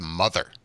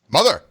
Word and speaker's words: mother!: Number 6 is Mother, in its 2nd weekend release with that's actually not how you say it, David. Mother.